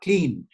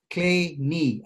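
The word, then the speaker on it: Kleene: pronunciation of this name it's definitely not clean it's clay knee as if your knee is made of clay a lot of people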